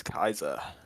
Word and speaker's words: Caesar: In Latin, you pronounce all the syllables, so that's how you do it. Which Okay. is why Well, Caesar is Kaiser.